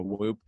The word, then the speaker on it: WHOOP: my wrist called a whoop yeah it's it's spelled how it sounds w-h-o-o-p and it basically tracks